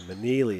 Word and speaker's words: Manili: I got it right. I said it wrong the whole JV game, but I got some confirmation. Manili it is.